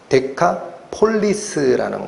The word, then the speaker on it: 데카폴리스: 합니다 들어보셨죠 제가 몰래 대가볼리라는 말은 원래 발음대로 하면 데카 폴리스라는 거예요 데카폴리스 폴리스는 도시죠 데카라는